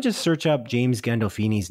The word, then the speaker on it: Gandolfini: probably butchered it anyway we were saying gandalf eeny as opposed to gandolfini hmm i think we were putting too much emphasis on the f at the end of dolph perhaps i've got too much